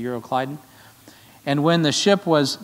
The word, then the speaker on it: Euroclydon: wind called euroclydon and some of you pronounce that you're a clod on I think it's actually euroclydon and when the ship